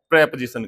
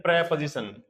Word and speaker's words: preposition: और यह इसका जो उच्चारण होता है, इसकी जो प्रोनंसिएशन होती है, वो होती है प्रपजीशन। प्रीपजीशन नहीं होता है, पोजीशन भी नहीं होता है। पोजीशन होता है यह प्रपजीशन।